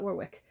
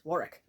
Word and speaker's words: Warwick: War wari sorry Warick it's not Warwick because it's English it's Warick by Nathan Amin ammen